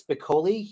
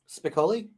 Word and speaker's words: Spicoli: So let's go ahead and get, is this Spicoli, him from Florida? Spicoli?